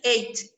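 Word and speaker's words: ate: It's eight. The pronunciation is eight. Eat and eight.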